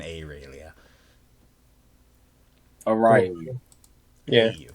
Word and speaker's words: Aurelia: It's pronounced and spoken Aurelia.